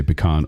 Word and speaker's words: pecan: Pecan nuts. There's there's actually a little agreement about if you say pecan or pecan dep even regionally they still disagree.